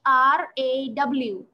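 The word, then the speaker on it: ر: bra so it it's it sounds something like when you write in english r a w what will you pronounce it raw yes exactly it's raw what does it look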